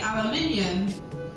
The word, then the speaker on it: aluminium: You spell this differently though, which is why I think you say it differently. We say aluminium, but we spell it